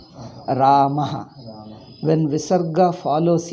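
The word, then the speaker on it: रामः: When Visarga follows A, you pronounce as Aha. Ramaha.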